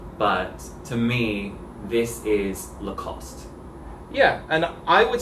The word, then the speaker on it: Lacoste: country would just say lacoste your mom's not normal not at all but we all agree that the e on the end is silent yeah right the cost